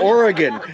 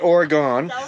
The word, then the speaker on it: Oregon: how to say it I wanted to say it correctly from Oregon not Oregon Oregon all right here